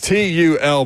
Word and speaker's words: Tul: It's Tull, but it's got an accent, like a accent mark over the U.